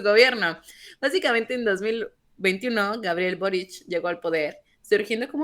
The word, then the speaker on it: Boric: tiene raíces de Croacia en croata la c se pronuncia como ch o se pronunciaría en castellano como ch entonces por eso se